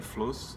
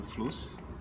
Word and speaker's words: FLOS: Inclusive eu descobri que é FLOS e não FLUS, porque a pronúncia em alemão é assim, que é o projeto de extensão da FURB, que é o Distrito de Inovação.